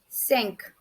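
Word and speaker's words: cinq: is five five in french it would be sink sink sink five sink sink okay then our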